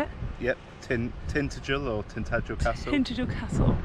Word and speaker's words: Tintagel: Yep, Tintagel or Tintagel Castle.